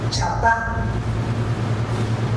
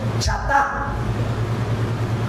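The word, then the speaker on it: חטא: Miren, la palabra pecado, esta palabrita pecado, en el original, el hebreo original del Antiguo Testamento, en los originales, esta palabrita pecado significa o se pronuncia chatá.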